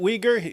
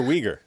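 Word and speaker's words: Uyghur: other guy Jen Ur does he pronounce it weer how does he pronounce it it should be uger that's just the right way it's uger uger it's not I always hear weager I always hear weager weager talking about the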